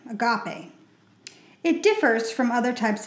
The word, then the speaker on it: agape: The Bible refers to this kind of love by using the Greek word agape, pronounced agope, agape.